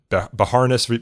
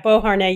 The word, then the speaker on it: Beauharnais: You cite one Supreme Court case from 1952, and I'll probably butcher the pronunciation of the petitioners in this, but Beharness versus Illinois, dealing with group defamation. Right, Beauharnais, yes.